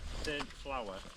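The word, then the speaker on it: Saint-Flour: Saint Flower. Saint Flower. Not as in Flower, as in what you bake with.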